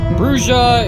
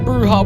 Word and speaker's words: Brujah: the correct way because it sounds like a Spanish word and I don't speak Spanish so whatever and the only reason why the bruja were slaughtered at Carthage